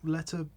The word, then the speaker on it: Lettieri: Yeah, Lettieri.